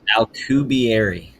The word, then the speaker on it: Alcubierre: Alcubierre. Alcubierre.